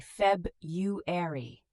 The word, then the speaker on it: February: February. We often say Feb-u-ary. The first R is often dropped. Tip, learn these as sounds, not as spelling.